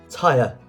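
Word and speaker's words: Týr: the word Tuesday Thor TI or through the correct answer is TI with the accent on the Y there t yr question 25 what was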